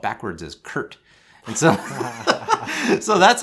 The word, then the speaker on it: Kert: more short story so my name is spelled weird it's ker T right so people always ask me it's like that's a really weird spelling of Kurt right and so how